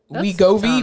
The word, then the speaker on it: Wegovy: Wegovy. fun. It's spelled Wegovy.